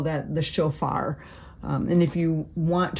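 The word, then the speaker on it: shofar: being sounded or sometimes we call that the chofar um and if you want to write that down um it's spelled s h f a r that's just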